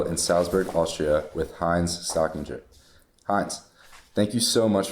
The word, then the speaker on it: Stockinger: Uh, Stockinger, Stockinger, like Kissinger in the States some time ago. Uh, Stockinger, it's pronounced Stockinger.